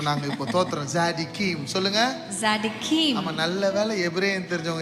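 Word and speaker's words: צדיקים: tzaddikim. டி வராது, D silent. So z தான் z சவுண்டா வரும். ஆமா, சொல்லுங்க. நம்ம ஜனங்க சொல்லிட்டோம். tzaddikim. ஆமா, எல்லாருக்கும் எபிரேயம் கத்து கொடுக்குறோம் நாங்க இப்போ. தோத்திரம். tzaddikim சொல்லுங்க. tzaddikim.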